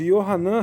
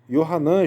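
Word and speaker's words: יוחנן: Iacov, Yohanan, Filipe, Bartolomé, Matitiarro, Tomá, né? Esse é o nome dos 12 apóstolos. No nome pronunciando em Israel, em hebraico, tá? Então vamos ler de novo. Iacov, Tiago, Yohanan, João, Filipe, né?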